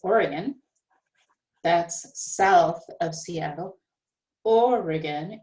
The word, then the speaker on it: Oregon: the place is oregon that's south of seattle or again it's got three syllables and it's the first syllable that is higher and longer that is stressed or again oregon but particularly it is